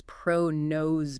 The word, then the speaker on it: ProKNOWS: And just quickly for clarity when we say pro-nose it's pronounced pro- nose kind of like the nose knows.